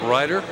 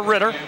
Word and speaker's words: Matt Ryder: We got a nice card this week from Syracuse lacrosse fan in the area with a correct pronunciation of Matt Ryder. Yeah, or Ritter. No, it's Ryder.